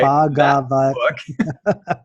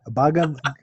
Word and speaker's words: Bhagavad: Bhagavad. Bhagavad.